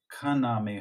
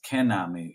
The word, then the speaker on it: Kaname: I now know Mr kaname har whose name I've only been pronouncing incorrectly for the last seven years I've been seeing the man's name as kenami and if my family